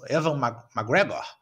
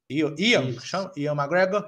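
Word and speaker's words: Ewan McGregor: com aquele, eu não sei se é isso, Evan McGregor. Ian McGregor.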